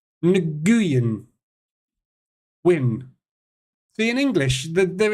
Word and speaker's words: Nguyen: Pronounced win, is it? How'd you get win out of that? Nguyen.